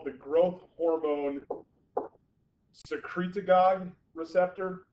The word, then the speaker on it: secretagogue: It binds to what's called the growth hormone secretagogue receptor, like synagogue, but secretagogue.